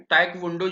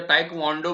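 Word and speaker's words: Taekwondo: ये सबसे पहला गेम है, टैकवोंडो जिसको बोलते हैं, और या ताइक्वांडो भी बोलते हैं कई लोग, थोड़ा सा प्रोनाउंसिएशन में अलग होता है person to person, so that is fine.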